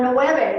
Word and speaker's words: nueve: Okay, so nueve, let's try it. Nueve. Nueve. Yes. And it's not always a clear B, like nueve. It's kind of swallow the B.